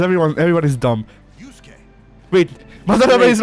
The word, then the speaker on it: Madarame: Yusuke called him more or less correct in Madarame with the cutoff and Ryuji called him Madarame, which is which is Americanized.